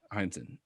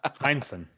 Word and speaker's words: Heinsohn: So I thought it was worth mentioning my man, Tom Henson. I'm trying to figure out how to pronounce it right now. Maybe we should cut in the dark. Heinsohn. You had it right.